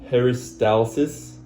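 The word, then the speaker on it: peristalsis: I pronounced it wrong, but it's paristalysis and segmentation.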